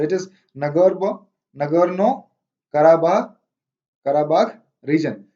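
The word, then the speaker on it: Nagorno-Karabakh: आप इसको कैसे भी प्रोनाउंस कर सकते हैं, अरब वर्ल्ड में इसको अलग तरीके से प्रोनाउंस करते हैं, इंडिया में अलग और चाइनीज अलग करते हैं।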